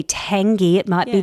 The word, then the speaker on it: Tangey: It's by Penny I think it's Penny Tangey. It might be Tangy, t a n g e y.